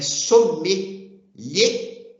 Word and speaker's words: sommelier: nós vamos ver que a palavra para o masculino é som lhe e para a mulher é som melher Essa é a pronúncia correta Tá ok então começou